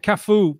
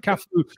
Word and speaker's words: Cafu: And Cafu, perhaps unfortunately for him, his name rhymes with arse in Portuguese.